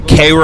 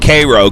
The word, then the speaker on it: Cairo: we have CU Missouri there's a Koo Illinois which is spelled like Cairo but they they call it Koo cuz they hate the